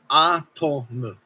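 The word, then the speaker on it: アトム: So A and mu, it would be pronounced as atomu or atom.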